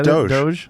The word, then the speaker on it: Doge: he ended up dogecoin how do you say it doge does anybody really know how to say it doggy coins it's it's doge yeah it's dogecoin yeah dosh but you know